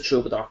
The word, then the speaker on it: Troubadork: Troubadork, which I have confirmation it is Troubadork. The K isn't silent. No funny business. Is the T not silent? I would have thought the T was silent. No, there's no silent letters and no invisible letters.